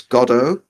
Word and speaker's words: Godot: So the correct pronunciation of Godot is Godot, Godot, Godot, however you want to pronounce it, because it's a bit like what's the correct accent?